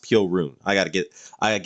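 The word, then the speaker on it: Piorun: Polish person originally said that it's correctly uh pronounced Pio room so I need to get that right Pio rune there was a Polish person in my chat who said that it's pronounced peel roon I gotta get I gotta get that straight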